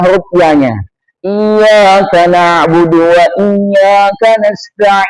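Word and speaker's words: إِيَّاكَ: Enggak boleh dibaca iyaka. Enggak boleh. Kalau iyaka bermakna hanya kepadamu. Na'budu kami menyembah. Wad iyaka hanya kepadamu nastain kami mohon pertolongan. Tapi kalau seorang itu membacanya tanpa tasdid kalau iyaka hanya kepadamu. Tapi kalau iyaka itu bermakna asyams matahari.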